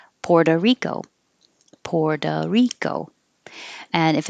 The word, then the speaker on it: Puerto Rico: lot of the times the o at the end will change to an uh because we're connecting it to rico so puerto rico you don't even hear the oh poor doe it'll sound like duh puerto rico puerto rico